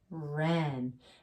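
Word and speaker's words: wren: last one quiet wr so quiet w r n ren and a oren is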